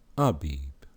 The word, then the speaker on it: Abib: This is Brother coming to you again to bring you Abib. It is pronounced Abib.